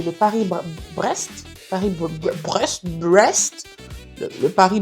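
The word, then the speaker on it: Paris-Brest: Le Paris, je sais même pas comment le prononcer. Le Paris Brest.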